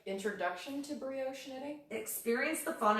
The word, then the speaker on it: brioche: I'm on there let's see this is advanced brioche is that how you said that word it's